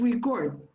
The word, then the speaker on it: record: words are pronounced differently the verb is to record record but this one is a record so one pronunciation for the verb another pronunciation for the noun so i would like